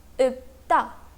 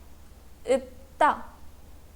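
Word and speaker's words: 읊다: Here double final consonant is a combination of leer and pier, and this word is pronounced as ipta, ipta.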